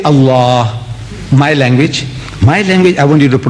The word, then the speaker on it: Allah: If it's A-L-A-H, is Allah. You say Allah. I said, look, say Allah, my language.